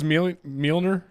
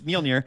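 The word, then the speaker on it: Mjölnir: But what I used to call it when I was a kid, because I was reading the comics, is Mjolnir. Yeah. So because that's the way it's spelled. It's MJOLI or LNIR. So to me, it was Mjolnir, and it's just weird.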